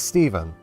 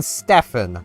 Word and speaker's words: Steven: Oh I would say my name is easy, but I've had so many people not pronounce my name correctly that's led to me getting a rather interesting nickname of cuz like fair few people know it's Steven. I've gotten Stefan so many times.